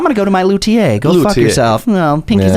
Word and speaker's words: luthier: You can tell the assholes, whoever says luthier. That's me. Right. I'm the one going, fuck you. You're saying it wrong. Learn French, you piece of shit.